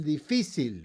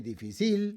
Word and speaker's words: difícil: The opposite of fácil, difícil, right? We don't say difícil, we say difícil, so we have to put a written accent there, too. Another one is going to be angel.